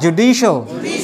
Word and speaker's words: judicial: So the stress is on the second syllable. You see here, you may see here, all right, the second one. So again, ju, di, shal, judicial, judicial, la la la, judicial,